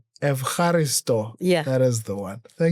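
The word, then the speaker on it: Ευχαριστώ: Evaristo.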